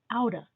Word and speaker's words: out of: straight out of the gate when we talk we often pronounce out of as outta and we even write